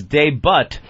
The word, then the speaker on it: debut: Wake Up with Whoopi made its debut today on... Anthony, the T is silent. Ah. Well, not really. I think it's kind of a soft T. Debut.